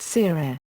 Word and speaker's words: tirere: These stick dances or 'tirere' (pronounced seerere) are only performed during major festivals.